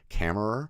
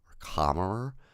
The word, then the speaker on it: Kammerer: And so stars Felix, I'm gonna say his name wrong, Kammerer or Kammerer. It's like Hammerer, but with a K.